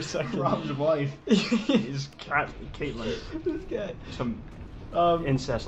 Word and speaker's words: Catelyn: Her name's like spelt weird. It's like, so I pronounce it I think it's pronounced Caitlin, but it's spelled Catelyn.